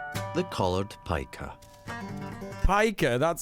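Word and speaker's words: Piker: alaskan who's already prepared the colored pika pika that's how you say it pika hasan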